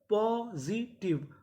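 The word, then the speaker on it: positive: टी आई वी ई आखिरी में इ है हमें इ का उच्चारण नहीं करना तो मीनिंग क्या बनी पॉजिटिव पॉजिटिव पॉजिटिव का मतलब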